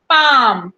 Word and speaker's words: palm: पाम, PALM, पाम। एल is silent.